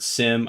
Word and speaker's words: SIEM: And I don't care how you pronounce it. I've heard SIM, I've heard SIEM, SIEM, if you want. Folks I work with pronounce it SIM, so that's kind of how I do it, although it bothers me that there's an IE in there. I'm not doing anything with it.